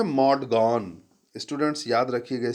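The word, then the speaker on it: Maud Gonne: तो जो एक लड़की है, वो भी यंग है, उसका नाम है मॉड गॉन। स्टूडेंट्स याद रखिएगा spelling, MAUD, मॉड गॉन, GONNE।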